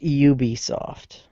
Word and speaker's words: Ubisoft: had you seen how bad EAS was it's pronounced Ubisoft you're right it's it's hard dude it's really